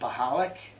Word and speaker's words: Pachloyk: two nine three nine my last name is pronounced mahalik with a P Tim please call me